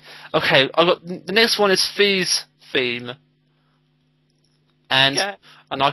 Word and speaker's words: Fi: It could be Phi, but I call her Fee because you have the characters Mito and Fido and Ocarina of Time, which I take to be the solfege syllables. Okay. So I call her Fee because of the solfege syllable Fee, which is raised Fa.